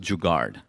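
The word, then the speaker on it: jugaad: Yeah, it's it's it's it it pronounced juggard and uh it literally means hustle but it's very Indian hustle and anyone who wants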